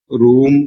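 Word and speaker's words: روم: ഉകാരം വെച്ചുകൊണ്ടാണ് കാര്യങ്ങൾ പറയുക അപ്പോ ഒ എന്ന ശബ്ദം അല്ലെങ്കിൽ ആ ഒരു ഓകാരം എന്ന് പറയാൻ പറയുന്ന ആ ഒരു സ്വരം അറബിയിൽ പ്രയോഗത്തിൽ ഇല്ല അപ്പോ അതിനോട് ക്ലോസ്നെസ്സ് ഉള്ളത് പിന്നെ ഊകാരമാണ് അങ്ങനെയാണ്ത് റൂം എന്ന ഉച്ചാരണം വരുന്നത്.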